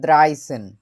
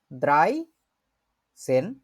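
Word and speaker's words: dreizehn: 11কে বলে হচ্ছে এলফ, 12কে বলে সোলফ, 13কে বলে দ্রাইসেন, 14কে বলে ফিয়ারসেন, 15কে বলে ফুমসেন।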